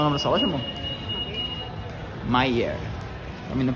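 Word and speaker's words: Myer: Meyer. Pra mim não pronunciar errado, é bom perguntar, né?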